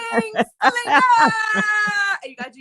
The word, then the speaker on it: Bling Slinger: Bling Slinger.